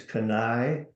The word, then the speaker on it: Kenai: Yes, the company is KENAI Biotechnology, And that's spelled KENAI.